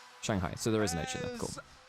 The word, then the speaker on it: Shanghai: Is it Shangai? Is that the pronunciation of it? Pronunciation is Shanghai. I thought there was an H in there.